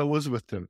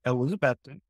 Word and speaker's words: Elizabethton: that as well okay so let's talk about elizabethon and I realize now I'm I'm pronouncing it differently which means I'm doing it